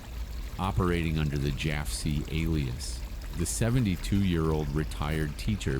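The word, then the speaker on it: Jafsie: He officially adopted the secret code name Jofsy, cleverly derived from the phonetic pronunciation of his initials, JFC. Operating under the Jafsy alias, the 72-year-old retired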